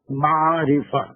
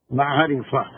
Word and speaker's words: معرفہ: یہ اگر نہیں سمجھ میں آ رہا تو ہجے آپ لکھ لیجیے، میم عین رے سے ہا، معرفہ، دس از عین، معرفہ، نکیرہ، نکیرہ دیٹ مینس کامن نام۔ اب اس